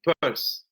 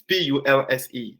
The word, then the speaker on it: pulse: And one thing that in my process I noticed a lot is the purse. I don't know if that's the right pronunciation of this word. It's p u ls e.